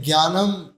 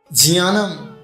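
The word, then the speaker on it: ज्ञानम्: ज्ञानम नहीं है। जी वाई एन नहीं है। लेकिन हमें आज तक क्या पढ़ा गया? ज्ञानम ज्ञानम शब्द नहीं है। स्पेलिंग देखिए जे एन ए एन ए एम क्या हो गया जानम नहीं जियानम ज और ञ से मिलकर के बनता है झिया इसलिए क्या लिखा है झियानम बहुत अच्छे आगे यथा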